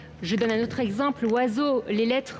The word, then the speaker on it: oiseau: Je donne un autre exemple, oiseau, toutes les lettres de ce mot ne sont pas prononcées.